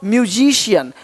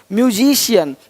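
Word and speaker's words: musician: सकता है अब देखो यदि सी के आगे आई ए हो तो सी का उच्चारण श होता है क्या होता है श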